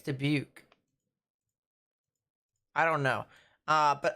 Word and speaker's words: Dubuque: the t in toronto is it pronounced dubuque or dubique de beak i think it's dubuque i don't know uh